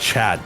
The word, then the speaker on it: dahc: And dahc is pronounced Chad, by the way, so we're going to start saying that.